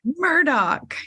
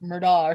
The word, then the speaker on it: Murdaugh: Murdoch. Yeah. I was saying his name totally wrong, like Murdaugh or something. It's spelt weird.